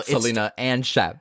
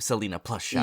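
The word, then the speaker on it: Selena + Chef: Chef Max yeah Selena plus Chef um so Selina and Chef I I know I wish but they she pronounces it Selena plus Chef yeah yeah yeah um it started off back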